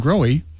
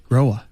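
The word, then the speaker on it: Grohe: because i got corrected when i called uh growing manufacturing or tonight i was getting some tech support they said it's growa ooh fancy well porsche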